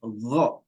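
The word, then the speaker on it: غ: So not ga. Probably say again. It's not again, it's gha. Gha. So you can say it after me.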